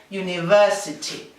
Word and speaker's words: university: Universidad empieza por vocal al escribirla, pero al pronunciarla es el sonido de la Y inglesa. ¿Cómo decimos tú? Decimos you. Pues universidad decimos university.